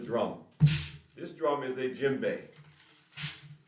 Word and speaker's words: djembe: this drum is a gym bae it's pronounced like a gymnasium jim bay but it's not spelled